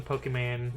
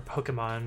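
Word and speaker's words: Pokémon: yes and and uh my bot has the pokeman emotes because um uh or pokemon because that's how it's actually pronounced but i'm gonna call it pokeman that's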